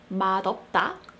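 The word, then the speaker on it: 맛없다: going to address why mashita is pronounced with a shield sound mashita but madhava is not pronounced as my hapa so to address this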